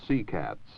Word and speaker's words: CCATS: We should also look for a moment at the Communications, Command, and Telemetry System, abbreviated phonetically to CCATS.